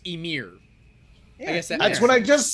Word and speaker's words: Ymir: keep it from shaking bob says it is pronounced emir yeah that's what i just said yeah it's